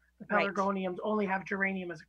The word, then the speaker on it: Pelargonium: Pelargonium. Yeah. Pelargonium.